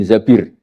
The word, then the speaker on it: Zabir: Kemudian saya nikah sama Abdurrahman bin Zabir. Di hadis ini bukan bacanya bukan Zubair tapi Zabir. Abdurrahman bin Zabir.